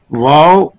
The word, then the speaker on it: واو: Wow pronounced as wow, pronounces wow by making lips round.